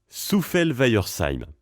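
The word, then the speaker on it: Souffelweyersheim: On commence par Soufel. Ensuite Weiher. Et enfin Seim. Soufel-Weiersheim. Tout simplement.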